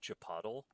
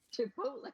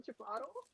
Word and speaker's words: Chipotle: And the reason why I pronounce it like that is because the um the hot sauce vendor at the Renaissance fair, they said garlic chapatle when I bought it from them. And I'm like I am stealing that. That is amazing. I'm like, I've never heard it pronounced so incorrectly.